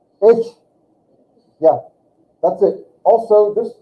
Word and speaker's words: ich: But that's not, say this word, ich. It just has a little bit of gurgling in the back of your, ich. Almost like a I-X-S-C-H or I-X-S-H, ich.